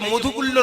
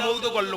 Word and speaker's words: মৌদগল্য: আপনার গোত্র মৌদগল্য, এই যে মধুগুল্য নয় কিন্তু উচ্চারণ মৌদগল্য, ময়ুকা দয়গা হাসান লয় যে ভালো, মৌদগল্য।